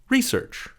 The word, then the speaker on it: research: Research. Also, research. 2 pronunciations.